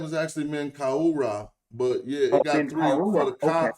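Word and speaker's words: Menkaure: there at that time oh his name is Man car okay I was huh I was pronouncing the S I thought I didn't know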